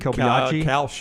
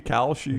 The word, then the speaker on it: Kalshi: Kobayashi? Kalshi. Not Kobayashi. It starts with a Kalshi. Yeah, Kalshi, I think, huh? Kalshi. That's how Tyler says it.